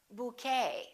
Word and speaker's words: bouquet: ballet we say ballet a few more ET endings bouquet like a bouquet of flowers Buffet valet and one more Chevrolet we